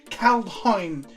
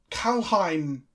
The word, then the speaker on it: Kaldheim: Kaldheim. People can tell me I'm pronouncing it incorrectly, but there is a D in the middle of it. Kaldheim.